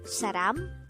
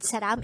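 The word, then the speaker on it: 사람: you hear the word saram in a song it only means person saram could be divided into two syllables sa is formed from the combination of the sounds of siat and ah while ram is formed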